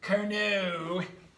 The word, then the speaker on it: Carnot: So the Carnot, that's spelled K-A-R-O-N-T, Carnot, it's French, so sophisticated, is percent efficiency is equal to TH minus TC divided by TH.